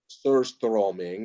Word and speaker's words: surströmming: Surströmming is how you pronounce it in Swedish.